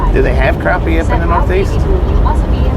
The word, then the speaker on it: crappie: It's not It's not actually called crappy. It's actually called crappie, but it's spelled crappy.